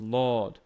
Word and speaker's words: Lord: it for singing is Lord like l a wd like oh Lord you don't really pronounce the r that much same thing here when